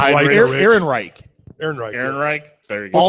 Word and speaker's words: Ehrenreich: Alden Enrich. Yeah. Where do I Fun. have him? No, it's Heinrich. Ehrenreich. Aaron Ehrenreich. There you go. What's he Alden from? Ehrenreich. You know, Alden I haven't Ehrenreich.